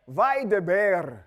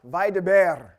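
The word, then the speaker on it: וַיְדַבֵּר: Vaideber. Roll that. Roll your R. Vaideber.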